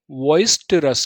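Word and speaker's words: boisterous: अब पढ़िए इसे, वॉइस्टरस। क्या पढ़ेंगे? वॉइस्टरस। इसमें ई साइलेंट कैसा है? साइलेंट है, हमें ई को बोलना ही नहीं है। आप ई के चक्कर में रहेंगे तो प्रोनाउंसिएशन खराब हो जाएगा।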